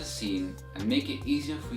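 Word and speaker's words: سين: And the way you pronounce this letter is the same way you pronounce the word seen in English.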